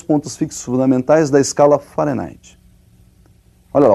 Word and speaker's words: Fahrenheit: Para eles lá eles pronunciam Fahrenheit e nós vamos pronunciar aqui do modo aportuguesado, ou seja, nós vamos falar de Fahrenheit mesmo.